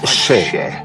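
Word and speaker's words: še: Le mot orge en sumérien se prononce Sheh.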